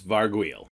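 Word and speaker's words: Varghoul: Varg well Varg wheel it's not gargoyle with a V its Varg wheel well guys that's all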